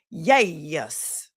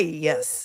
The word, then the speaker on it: yes: on the stand and he would pronounce it yay, yes. Yay, yes. It was yay, yes. Do you remember that? I do. I'm still talking about it. Instead of yes, he said yay, yes.